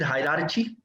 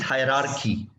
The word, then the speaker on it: hierarchy: be conducted in English, for example, hierarchy, you said hierarchy. Yes. Now that is hierarchy.